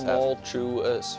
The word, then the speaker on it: tumultuous: How many How many syllables does does tumultuous tumultuous four?